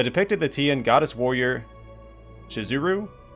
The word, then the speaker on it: Shizuru: that the name of the Goddess is actually spelled and pronounced shiz uru or that misspelling it